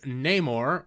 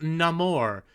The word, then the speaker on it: Namor: then he's not anymore rather than being pronounced Neymar like in the original Comics it will be pronounced no more in order to bring the character more fully in line with his new Aztec Mayan Origins and mind you they